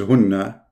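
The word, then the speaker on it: هنّ: Those two are the same word, hunna. In fact, the correct reading is hunna, not hinna.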